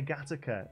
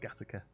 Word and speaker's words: Gateacre: Oh yeah, Gattaca, because it's spelled Gateacre. That's by where your mum is, isn't it? Yeah, Gateacre, which is pronounced Gattaca.